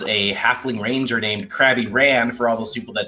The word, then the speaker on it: Ran: The crab rider is Crabby Ran. R-A-N. In case Obviously. you want to spell it.